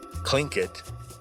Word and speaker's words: Tlingit: Now, a lot of people have changed this to a more English-friendly pronunciation, Klinkit, kind of changing that t to a k sound.